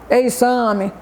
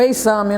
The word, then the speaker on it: exame: uma pessoa fazendo um exame, né? Exame é com X. Mas quando a gente pronuncia, né, dá um outro som de uma outra letra, né? Um Z.